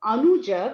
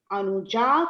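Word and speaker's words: Anujā: When you say female, you have to extend the last syllable. So instead of Agraja, which was a brother, it became Agraja. Instead of Anuja, which is a brother, it became Anuja for sister.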